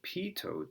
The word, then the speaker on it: pitot: This is pronounced a pitot tube, and they're used, I've seen these on everything from, here's an example of some spots where you'd see pitot tubes.